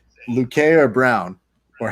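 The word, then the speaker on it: Vicente Luque: need to ask you how do you say lucay or brown or how do you say their names uh vigente luque and then randy brown luke okay cause every time i see his name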